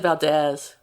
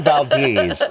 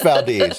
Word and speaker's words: Valdez: happen um there's a you just said Valdez I did it's Valdes it's totally valz it is Valdes I've listened to podcast I listen to people from Valdes the name of their